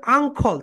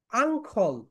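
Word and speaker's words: uncle: What's your আঙ্কল, সবাই বলো, আং, আং, খল, আঙ্কল, নট আঙ্কেল।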